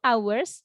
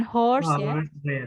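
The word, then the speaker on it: hours: horse feat Eminem betul Ours bacanya bukan horse horse kayak kayak kuda hanya dimatikan Thailand Edge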